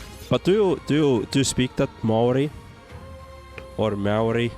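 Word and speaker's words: Māori: The proper pronunciation is Maori is very similar sounding. Moldy. So Maori. Except with R instead of ID.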